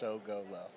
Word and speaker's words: Sogolow: It's spelled more complicated than it actually is. Just Sogolow.